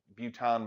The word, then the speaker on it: bouton: Buton, by the way, is French for button. It's just a French pronunciation of the word button, because these things do kind of look like little buttons.